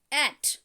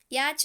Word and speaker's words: yacht: एंड एट, इसका pronunciation क्या है? एट, याच नहीं, YACHT, एट, एट।